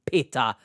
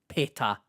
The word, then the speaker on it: pita: Sorry, I didn't know Blue Peter were branding pita all of a sudden. Pita. Don't slew me in the comments, all right? It's pita. If we're pronouncing it correctly, coming from a Turk, pita.